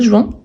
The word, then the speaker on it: joint: Et en sachant que normalement, les dernières consonnes, on ne les prononce pas. Donc, j'ai joint, tu joins, il joint.